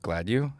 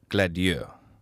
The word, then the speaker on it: Gladieux: He goes how do you pronounce your last name? I go Gladieux. He goes huh. You're pronouncing it wrong. I was like uh What? He goes it's Okay, what is it? He says it's Gladieux.